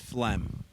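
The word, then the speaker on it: phlegm: isn't a real language the other one that people get wrong a lot is fleem oh p h l e m hold on you're close is it just F LM is there another silent p in there oh no is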